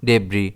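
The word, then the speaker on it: debris: है यहां पर और इसे हम प्रोनाउंस भी डेबी ही करेंगे। इसमें स्ट्रेस डी पर रहेगा।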